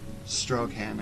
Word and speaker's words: Straughan: featuring Karen Garst and Karen Strohan, I think is how it's pronounced.